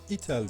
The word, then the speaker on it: itel: p35 cipi yetersiz denilebilir itel diye telaffuz ediliyor sanırım s23 modeli 16 puan